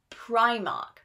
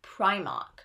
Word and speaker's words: Primark: So they had to change the name and they chose Primark. So please, this is I, Primark, Primark. So those are the most important British brands with more difficult pronunciation.